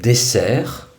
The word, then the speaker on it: dessert: Enfin, dans le mot dessert, ES se prononce E. C'est aussi un costume du E. Il ne se prononce pas S, mais E.